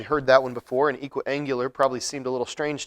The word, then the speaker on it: equiangular: It's not equal angular, there's no extra L in the middle of the word, it's pronounced equiangular, but it means that all three angles are the same measure.